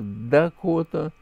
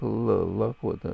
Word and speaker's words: Дакота: Язык называется Дакота. В каком-то варианте это допроизносится как Лакота, но основное название Дакота.